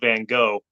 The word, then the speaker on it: van Gogh: pronounce, the artist Vincent van Gogh, but they pronounce it Van Gogh, and I'm like, well, I'm American. I say it the way Americans say it.